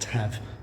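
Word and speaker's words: Taf: The Tav. The Tavern in Aldo, but now just called the Tav. Yes. So Welsh single F is pronounced as a V.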